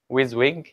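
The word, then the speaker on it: WYSIWYG: to pronounce this word it's pronounced like with wing yeah what you see is what you get so how we can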